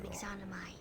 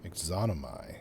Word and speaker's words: Yxunomei: I am Yxunomei. I am a soldier. Yxunomei. Okay, so that's how you pronounce it.